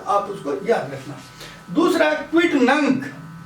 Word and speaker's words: quidnunc: दूसरा क्विट नंक। अब देखिए, स्पेलिंग है QUIDNUNC, पर जब इसका जो आखिरी सिलेबल आएगा वो गेक का आएगा, है ना।